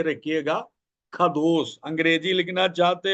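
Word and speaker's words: qadosh: ख दोस आप हिंदी में लिख के रखिएगा ख दोस अंग्रेजी लिखना चाहते हो मैं कह देता हूं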